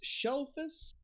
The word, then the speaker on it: Shellface: in the middle of nowhere his name is shelfus palmtoe just taking notes shelters shells just s-h-e-l-l-f-a-c-e one might pronounce it wrong and um and uh yes